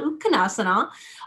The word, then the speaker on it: Utkatasana: So the next one, Utkatasana, chair pose, and technically that A is silent for my purists out there for Sanskrit.